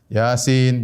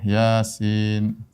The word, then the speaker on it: Yasin: Toha, yasin, ya. Dan ini banyak dalam Al-Quran, ya. Seperti Seperti Toha, ya. Kemudian apa? Yasin. Dibacanya bukan toh, dibacanya bukan yes atau yas, bukan.